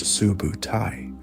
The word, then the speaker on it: Subutai: like his brilliant commander Subutai, pronounced Subutai, made an unexpected deep flanking maneuver through supposedly impassable deserts or mountains, appearing instantly where they were least expected.